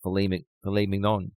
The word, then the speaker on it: filet mignon: So my dad taught me how to say it right, filet mignon.